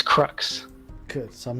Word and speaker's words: Crux: well what's the correct way of sort of pronouncing it oh it's crux good so I'm not making myself look like